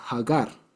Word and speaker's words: Hagar: este lado es que aggar en hebreo se dice hagar no se dice Agar sino hagar y resulta que eh